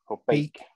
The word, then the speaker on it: Beek: Sportlandgoed de Haamen in Beek, is it? Beek. Okay. Well, do you know what? Of all the things I thought I was going to get wrong then, Beek was not the one.